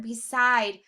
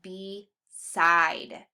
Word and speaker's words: beside: Our first syllable B, that E says its name. It's an open syllable. So we have beside. Hear it again, beside. Hear that I sound is nice and accented in the second syllable.